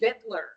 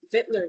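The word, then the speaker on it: victualler: Jeremy and I had a conversation about the pronunciation of that word. My voice says Vic. It's apparently Vitler and like it looks like Vickual, but it's actually Vitler, which you knew.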